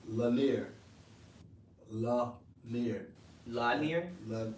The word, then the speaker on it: Lanier: won't be going to and they say it's pronounced lanier la mir la nier la la nier linea